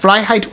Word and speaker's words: Freiheit: FREIHEIT, and it's pronounced FREIHEIT und Tod, which translates to Freedom and Death.